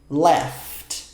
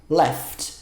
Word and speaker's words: laughed: Só coloca depois do laugh um som de D. Left. Left. Não fala laughed e nem lauged. Não pronuncia esse E. É left. Left. É um daqueles verbos que no passado fica com E, mas esse E não é pronunciado.